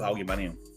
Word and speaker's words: aluminum: Let's take the eye out of aluminium. No, fuck you. Aluminum.